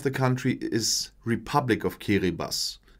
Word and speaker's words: Kiribati: And the official name of the country is Republic of Kiribati. It's pronounced that way, although it's written Kiribati.